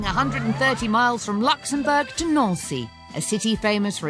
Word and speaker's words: Nancy: so today we are on our way to no see and it's actually any ncy it's not pronounced Nancy the coach is traveling 130 miles from Luxembourg to not see a city famous for its Art Nouveau architecture